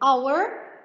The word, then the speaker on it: hour: Number five, let's match the picture of hour to letter H. Hour. H-O-U-R.